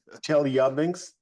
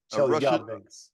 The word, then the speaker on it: Chelyabinsk: Yes, it's Chelyabinsk. The emphasis is on the second syllable. Chelyabinsk? Yeah. Chelyabinsk.